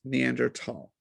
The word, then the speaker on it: Neanderthal: is, so from my understanding, it is correctly pronounced Neanderthal.